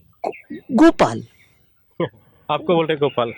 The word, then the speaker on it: गोपाल: किसी का नाम जैसे गोपाल है तो उनको नाम उच्चारण करने में तकलीफ होती है, तो बोलते थे गोपाल की जगह वो कुपाल, टूपाल, पोपाल।